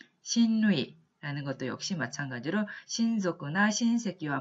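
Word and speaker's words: 親類: 그 다음에 있는 친류라고 쓰고 발음하면 신루이라는 것도 역시 마찬가지로 신속구나 신세기와 마찬가지로 전부 다 친척이라는 의미로 사용이 됩니다.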